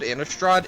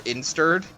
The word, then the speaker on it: Innistrad: I called Innistrad Insturd. It was great. I mean, that is just wrong.